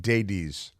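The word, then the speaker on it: Daibes: Fred Davies I think deities is how it's pronounced it's like Davies but with a d a d and a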